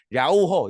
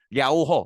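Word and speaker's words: 遼河: 중국어 발음으로는 뭐 정확한 발음은 아니지만 랴오허 이렇게 불러요. 이거 물론 이제 중국어 하시는 분들은 좀 더 정확한 발음을 하시겠지만 한글로 중국어 발음을 한글로 쓰면 대충 그렇게 해. 랴오허 이렇게 해요.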